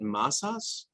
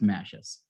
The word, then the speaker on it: Mashes: your name correctly so your last name is it masas so no one ever does but okay that's okay uh so it's it's actually pronounced mashes mashes okay so andrew